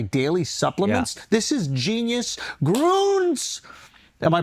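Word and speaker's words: Grüns: Groons. Am I pronouncing it right? Yeah. Groons? Yeah, Because I yeah, saw that little umlaut, so I assumed it was Groons.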